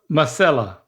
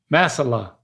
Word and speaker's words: masala: It's all A's in the last one. Masala. Chicken tikka masala. You keep going back to that. I know. The second syllable, you got to say it like you're relieved.